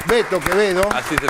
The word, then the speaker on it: Quevedo: Vamos a presentar a nuestros invitados, por acá lo tengo a Alberto Quevedo, que se pronuncia Beto Quevedo.